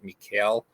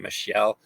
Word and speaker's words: Michel: valence all presentation I I kept pronouncing it Mikel instead of Michelle uh so I I